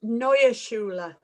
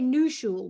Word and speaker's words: Neue Schule: It's Neue Schule. Neue Schule. Right, so yeah, that completely wrong. I always say New Schule, but Neue Schule, mouthpieces.